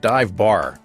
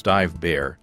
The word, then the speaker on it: Dive Bär: b a.ch it's it's it's spelled like dive bar but it's dive bear to find out more